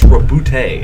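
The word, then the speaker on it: Roboute: It's Robute. I made 2 of them. Maybe? It is. That's what they've officially pronounced it as in some of their promotional work.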